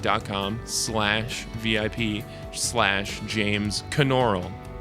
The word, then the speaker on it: Knoerl: slash VIP slash James Caan aural you pronounce the K in my last name so don't forget that